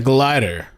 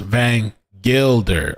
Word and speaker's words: Van Gilder: My name is pronounced Van Gilder. Oh, okay. Thank you. But your way works too. Sounds much more fun. It does, right? Glider. But Gilder, yes, Gilder.